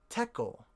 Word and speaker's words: tekel: which is essentially Babylonian the Chaldean language often transforms the SH sound or the S sound into a T sound here's an example in